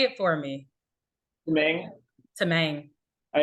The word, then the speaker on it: Tamang: say it for me to main all right that's it's the most common pronunciation I mean that you're speaking Tagalog it's tamong but a little bit easier to convey exactly well thank you